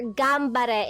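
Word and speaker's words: 頑張れ: However, in the rule of pronunciation in Japanese, if if an N precedes a P or a B, the pronunciation becomes M.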